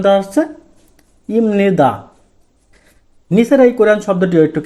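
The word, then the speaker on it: 입니다: উচ্চারণটি করতে হবে যে বিউব বাসমের পরে নিয়ন থাকলে বিয়োগটি আমাদের পণ হয়ে ম উচ্চারণ হবে সেক্ষেত্রে আমাদের এখানে কি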